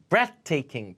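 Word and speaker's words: breathtaking: 죽어도 안 주고요 자 breath taking breath 에다가 th 자 breath breath 그죠 물으세요 th 발음은 혀를 물어야 됩니다 breath taking 숨막힐 정도로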